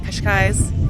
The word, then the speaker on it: Cascais: It is our third and last day here in the Cascais.